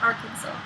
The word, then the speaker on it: Arkansas: Even though it's spelled Arkansas. It's Arkansas.